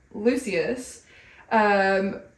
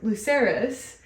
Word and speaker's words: Lucerys: Rhaenyra thinks it should be her son, Lucius. Lucerys? Luke. I'm gonna say Lucerys. I like saying full names. Okay. Rhaenyra thinks it should be her son, Lucerys.